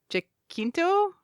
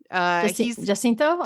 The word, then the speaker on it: Jacinto: I can't pronounce his last name. Jacinto. Jacinto. Jacinto.